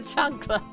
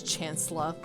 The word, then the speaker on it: chancla: Congrats, you get the chancla. Fun fact. You're probably gonna hate me for this, Sandslash, but when I first saw the word chancla, I mispronounced it as chancellor.